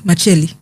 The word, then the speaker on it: Makyeli: Is that how they say it, Makyeli? Yes, Makyeli.